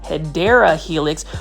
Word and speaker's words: Hedera helix: that are new to the channel I actually mispronounced hedera Helix which is the correct way to say um